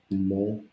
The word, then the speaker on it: δημοκρατία: so and confusion, but always we divide it in syllables. We say δημοκρατία. Then in my mind I said half half. Δημοκρατία, and at the end I say it all together.